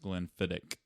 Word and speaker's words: Glenfiddich: Yes, it is actually pronounced Glenfiddich. So that H is for suckers.